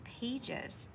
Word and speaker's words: pages: Sounds like a G, but it's really, or it sounds like a J, but it's really G-E, page, es. So we would cross out that one and put it over here as the suffix, pages.